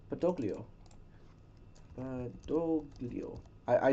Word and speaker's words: Badoglio: name wrong is it bolio I think there's a g in there though no there has to be a g Petro B doio right oh badoglio badoglio BOGO I I said